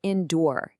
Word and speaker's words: endure: Next is the word endure. It is pronounced indoor.